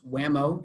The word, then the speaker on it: WMAO: The Environmental Professionals Network and the Water Management Association of Ohio, pronounced WMAO in acronym form, have worked together over